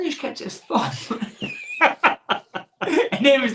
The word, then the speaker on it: Thom: And he's called Tom, but it's spelled Thom. Now, that's an American bit of Tom, if that makes sense. And You call it Thom.